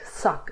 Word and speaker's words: sak: Okay, so can you see this word sak is just one syllable, ends in a K. So this vowel is trapped between the two consonants and it's a short sak.